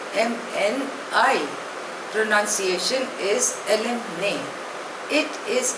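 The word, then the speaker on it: alumni: माय एलमा martyr next word is एलम ने spelling is ए एल यू एम एन I pronunciation is एलम ने इट इज अ Latin word it means of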